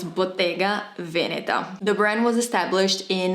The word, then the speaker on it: Bottega Veneta: really reinvent themselves and I've been hearing Bottega Veneta butaga Veneta motega Venera and I want to scream because it's Bottega Veneta the brand was established